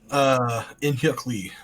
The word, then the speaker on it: In-Hyuk Lee: In-Hyuk Lee.